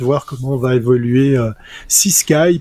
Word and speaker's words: CSKY.AI: comment on va évoluer si Sky puisque c'est peut-être comme ça qu'il faut le prononcer ça s'écrit s C voilà CS K y.ea si vous voulez aller